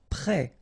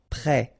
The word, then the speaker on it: prêt: Prêt. Final T not pronounced. Accent circonflexe like that phonetically gives you the E sound. Prêt.